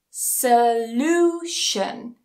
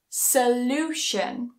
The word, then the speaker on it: solution: so the syllable that's before it we put the stress there for example Nation Nation solution solution so again it doesn't matter how